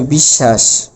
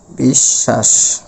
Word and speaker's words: বিশ্বাস: আমরা লিখেছি তাহলে এটার উচ্চারণ হবে বিশ্বাস। বিশ্বাস ওকে এই হলো ঘটনা আর আমরা